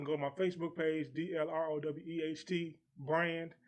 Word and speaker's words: Dlroweht: Listen, I'm going to give y'all, they say, what's the pronunciation? I'm going to tell you, it's Dlroweht. You hear me? The world. The world spelled backwards, baby.